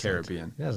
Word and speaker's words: Caribbean: very pointedly was like, it's pronounced Caribbean. Caribbean. You know, I was like, okay, Caribbean.